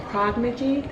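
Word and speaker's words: Progyny: We now have Prognigy, that's how you pronounce it.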